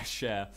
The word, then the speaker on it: Cher: i keep doing that this is believed by sure and that was sure with belief that i pronounced it right this time share share share anyway believe by cher nailed it and seven days by craig david